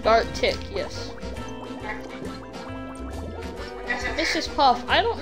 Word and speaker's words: Gartic: Yeah, I didn't know how to pronounce it. I still know. Gartic, right? Gartic, yes.